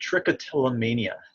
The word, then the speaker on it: trichotillomania: you may or may not know it's called trichotillomania that's how you pronounce that uh it's a it's a big